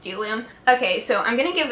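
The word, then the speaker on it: Bdellium: It starts with a B, but it's pronounced Delium.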